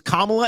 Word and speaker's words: Kamala: just because I was corrected that it was Kamala, and I didn't want people to say that I was purposely mispronouncing it.